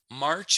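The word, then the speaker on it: mars: March is mar. Mar. So the AW is telling me that it's a long drawn out sound, right?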